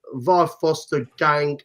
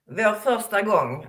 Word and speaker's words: Vår första gång: So as far as Adrian's concerned, I mean, Var Foster Gang, I'm sorry, I've probably pronounced it wrong, Jeanette. How do you pronounce that? Vår första gång, our first Var Foster time.